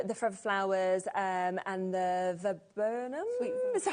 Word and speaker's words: viburnum: So shall we come next to the Forever Flowers and the viburnum? So how do you say that word? Sweet viburnum.